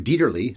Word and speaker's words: Dieterle: William Dieterle directed the movie. I saw something about how it's pronounced Dieterle, with a le sound at the end, but I've always heard Dieterle, so I'm sticking with that.